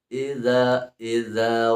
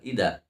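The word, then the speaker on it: إذا: Wa min syarri ghasiqin idza waqab, bukan ida, ya, tapi dza zubar, ya, zubar, ya, bar, bacanya bar. Nah, wa min syarri ghasiqin idza waqab.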